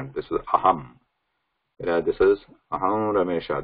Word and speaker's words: अहम्: There is no pause between this saying Ramesha, Ra of Ramesha and Anuswara. It has to be continuous. Aham Ramesha. But for our purpose, we'll just pronounce here as Aham, just for the ease of pronunciation right now.